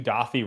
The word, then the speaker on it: Dauthi: creates are you thinking are you saying dothi like doth d-a-u-t-h-i that yes is